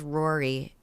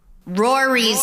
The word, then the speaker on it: Rory: Because Rory rhymes with story, but then you do a little switcheroo.